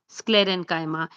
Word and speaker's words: sclerenchyma: So these are pronounced as parenchyma, collenchyma, sclerenchyma, and they come under the category of simple permanent tissue.